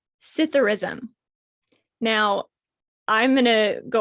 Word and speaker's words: Psithurism: It's Psithurism. Now, I'm going to go off about this. I strongly believe it should be Scytherism, but it's Psithurism. What did I say first? It's Psithurism.